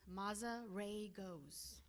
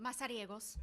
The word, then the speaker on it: Masagos: to say it it's maos if you want to say it in English but masagos if you want to say it in Spanish um I am a